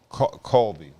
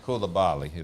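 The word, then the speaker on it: Coulibaly: We are depending on Colby, Bilal Colby. Isn't that how you pronounce it? Koulibaly? Koulibaly, that's it.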